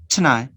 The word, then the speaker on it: tonight: But if you want to sound more like a native speaker, you can omit the vowel which is unstressed.